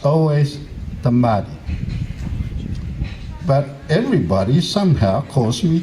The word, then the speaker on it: Tamarii: You know, if you want to say my name, say it properly. It's Tamarii.